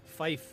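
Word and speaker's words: Fife: F. Yes. Like Barney. F I FI. Uh, just like F. Yes. Just like Barney F, just without the Y.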